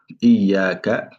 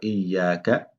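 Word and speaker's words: إِيَّاكَ: Donc là, c'est Iyaka na'budu wa iyaka nasta'in. Nasta'in. Nasta'in. Maintenant, l'erreur à éviter, c'est sur le ya ici. Donc, concernant le ya, il faut bien prononcer le shadda.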